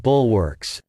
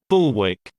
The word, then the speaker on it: bulwark: are usually good defensive bulwarks pharmaceutical stocks such as Elon and Galen are usually good defensive bulwarks synonyms wall Rampart fortification American pronunciation bulwark bulwark British pronunciation bullwick bulwick 59th word bucolic bucolic